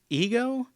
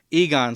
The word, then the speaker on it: Egon: the um the grandchildren of i think it's ego maybe i'm not exactly sure how it works but essentially um let's see if i can egon sorry i pronounced his name incorrectly um harold